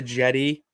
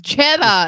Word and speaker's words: Jeddah: We're keeping it here local before we head over to Jetty. I think that's how you say it. Jeddah. Tomato, tomato, potato. Well, it's All right. So no, it's Jeddah. It's not Jetty.